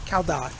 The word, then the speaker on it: Cao Dai: It's spelled C-A-O-D-A-I, Cao Dai. It's pronounced like Cao Dai.